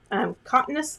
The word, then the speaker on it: cotinus: Okay, now I'm going to come in with this really pretty, this one is called a cotinus leaf.